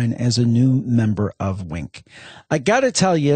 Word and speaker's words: Winc: as a new member of Wink.